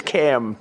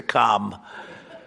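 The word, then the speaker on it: Kamla: No, sir, it's a little different. It's Cam, right? Cam as opposed to Com. We don't like Com.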